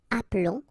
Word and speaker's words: appelons: they follow the rule, but then you keep only one L, so that's the reason why you will get the sound appelons, okay? This is mute or silent, appelons, and then vous appelez, okay?